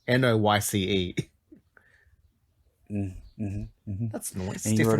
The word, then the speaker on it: Noyce: Well, he's an Australian, so that's why I say it like that, because it's Noyce.